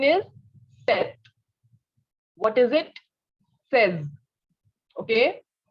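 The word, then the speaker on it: seize: have 16 16 is set what is it says okay says okay next is 17.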